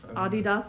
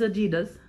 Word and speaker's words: Adidas: Adidas is the correct way to pronounce it, but everyone knows it as Adidas.